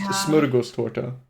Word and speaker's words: Smörgåstårta: And yeah, for the stream it it is pronounced smuros to so don't get it twisted and I hope everybody practices on their own time how to pronounce that name.